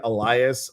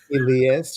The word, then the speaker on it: Elias: Well, you know what, Tamara, I just want you to know that I get Elias, Elijah, Elias, Eliza, uh, Eliza, um, Elias. Elias, which is really the correct pronunciation of my name, by the That's what my husband calls you, is Elias.